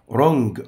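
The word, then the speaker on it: wrong: او سق جج لج رونج خطا طبعا ده حرف الدبل سنت يكتب ولا ينطق رونج رونج تصريف افعال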